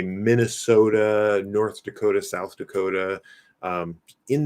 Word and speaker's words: Minnesota: calling the north um they would probably pronounce it more or less like i do minnesota but somebody from minnesota might say minnesota minnesota minnesota okay for some reason i